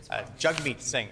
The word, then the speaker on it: Jagmeet Singh: I do appreciate my friend correcting me on the pronunciation, so I will Jagmeet Singh, and I've learned something new then in terms of pronunciation.